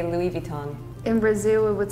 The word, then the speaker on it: Louis Vuitton: That's why English native speakers just make fun of French people because we never pronounce the H, even in English. That's why. This one is Louis Vuitton. In Poland, Louis Vuitton or Louis Vuitton.